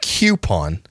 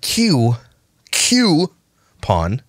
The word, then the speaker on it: coupon: coupon codes over there coupon not coupon it's spelled c-o-u-p-o-n coupon coo coo not q q pawn okay four i know